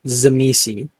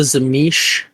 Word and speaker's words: Tzimisce: if you look in the pronunciation, it is Z me C.